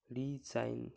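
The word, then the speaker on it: resign: ডিজাইন, শেষে এই যে নতে এন উচ্চারণ হচ্ছে, জির উচ্চারণ হচ্ছে না। রিজাইন, একই রকমভাবে রিজাইন, রেইন, ফেইন, ঠিক আছে, একই রকমভাবে এগুলো জি উচ্চারণ হচ্ছে না আর এন উচ্চারণ হচ্ছে।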